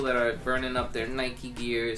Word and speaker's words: Nike: But It's Nike because that's they take it from the Greek god or whatever.